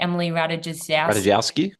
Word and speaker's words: Emily Ratajkowski: I can't pronounce her name properly, but Emily Ratajkowski, the model chick, Emily Ratajkowski?